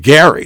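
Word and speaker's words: Gerry: Jerry I should say g-e-r-r-y as in Jerry and the Pacemakers remember Jerry Marsden died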